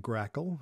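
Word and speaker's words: GRACoL: swap stands for and grackle is how that's pronounced those are two fairly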